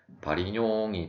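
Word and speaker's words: Varignon: 프랑스의 수학자 바리뇽, 통상적으로 이제 바리그논이라고 많이 사용하는데, 이제 프랑스어기 때문에 이제 원어로 발음을 하면 바리뇽이 되겠고, 이제 이 사람이 고안한 정리로 일단 그림을 보면서 설명을 드리도록 하겠습니다.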